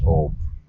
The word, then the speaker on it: Om: 3 syllables but one sound. A Om is Om.